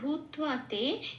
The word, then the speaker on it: ভূত্বা: তোয়াই নিচে ব আছে আর বয়ের উচ্চারণ হয় ও প্লাস অ, কিন্তু যেহেতু এখানে আকার আছে সেই জন্য বয়ের জন্য, বয় আকারের জন্য এটা হয়েছে ও প্লাস আ। তাহলে এবার বয় আকারের সাথে ত যুক্ত হয়ে ওটা হয়ে যাবে তুয়া। কে আমরা ওয়া হিসেবে উচ্চারণ করি, এটা ত যুক্ত হয়ে যাচ্ছে তুয়া, তাহলে উচ্চারণটা হবে ভূত্বা।